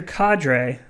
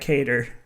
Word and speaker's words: cadre: Twitter and on YouTube blaster cadre not cater ask I'm pretty sure